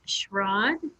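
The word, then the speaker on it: Schraad: you very much our next speaker is schrod i may not have pronounced that correctly but schrod s-c-h-r-a-a-d he did pronounce that correctly thank you my name is schrad and i'm from la compton kansas and i'm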